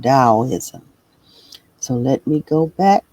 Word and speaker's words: Daoism: Dao. Daoism. That's how you pronounce it. Dowoism. So, let me go back to it. Dowoism.